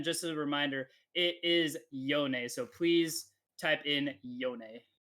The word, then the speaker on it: Yone: very soon again just a reminder it is yonei so please type in yone you guys like